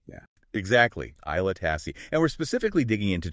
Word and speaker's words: Aila Tasse: And that's pronounced Aila Tasse, right? Yeah, exactly. Aila Tasse.